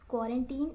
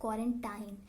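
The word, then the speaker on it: quarantine: येस, you have heard it right, it's क्वारंटीन instead of क्वारंटाइन। बहुत सारे लोग ऐसा बोल देते हैं which is wrong, it's क्वारंटीन।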